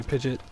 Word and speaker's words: Pidgeot: have I heard yeah or like Pidgeot some people say pidet I don't know pige